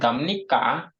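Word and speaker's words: 갑니까: Nah, Jadinya dibacanya gamnika.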